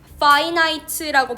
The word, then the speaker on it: finite: 파이나이트라고 발음하고 인이 붙으면 인피니트라고 발음되죠. 발음이 달라지는데이 파이나이트는 무한이 아니라 유한한 인피니티가 무한한 유한하고 그리고 뭔가 늘어나는 그런 경계를 가진 우주를 우리는 상상하려고 한다는 거죠.